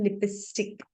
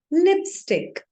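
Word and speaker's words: lipstick: अक्सर कई लोग इसे बोलते हैं लिपस्टिक. इट्स a wrong pronunciation, it इज लिपस्टिक.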